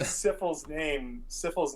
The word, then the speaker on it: Syphil: Well, so literally, Syphil's name is like the beginning of syphilis. That's how you spell it. Well, and that's how you say it, and that's how you've been saying it.